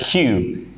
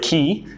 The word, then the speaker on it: Q: letter is the letter Q here in Indonesia you pronounce it key uh but in English we want to make sure we pronounce this correctly it's the letter q